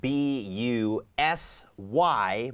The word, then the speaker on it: busy: ครับ แต่ ว่า เ่อ ถ้า เรา ดู การ ออก เสียง ของ B U S Y มัน จะ บอก ว่า B I Z Y นะ ครับ ก็ คือ busy เพิ่ม เสียง กล้อง ที่ ลำคอ เป็น Biz Z เหมือน มี ตัว ผึ้ง